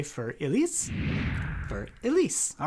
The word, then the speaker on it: Für Elise: The first most important thing to get used to about this song is how to pronounce the name Für Elise. Can you just say Für Elise? Für Elise.